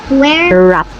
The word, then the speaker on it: wrapped: And Wrapped. wrapped Silent W to be.